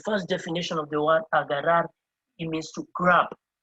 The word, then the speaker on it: agarrar: A-G-A-R-R-A-R. A-G-A-R-R-A-R. It's pronounced as agarrar.